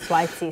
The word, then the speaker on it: Saweetie: with Saweetie, and then that's how you say that name. Sweetie, yeah. I'd never know how to say it. Sweetie, so it's Sweetie.